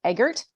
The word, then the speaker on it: Eggert: So this is Linda Eggert. Pronounced it right?